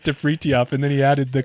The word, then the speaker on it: Fritjof: But yeah, the correct way to say it is Fritjof.